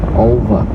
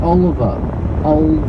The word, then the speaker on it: Olver: His name was Olver, not Oliver. Olver. So take the I out of Oliver. So Olver. So it was almost like a really dumb guy trying to like spell or pronounce Oliver.